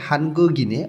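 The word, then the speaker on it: 한국인의: অর্থ র বা এর উইটা যখন পার্টিকেল হিসেবে শব্দের শেষে বসে তখন এর উচ্চারণ এ হয় উই হয় না তাহলে এখানে উচ্চারণটা হবে হানগোগিনে অর্থাৎ কোরিয়ানদের জঙ্গীয় ধর্ম আমরা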